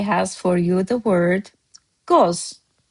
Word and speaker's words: qoz: Master Azerbaijani word of the day has for you the word goz. Goz, just one syllable.